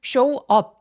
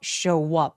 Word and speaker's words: show up: show up show up. 그리고 show up 이렇게 나눠서 발음하지 마시고요. 연결해서 show up show up 두 번째 소리가 업이 아니라 마치업처럼 들리죠.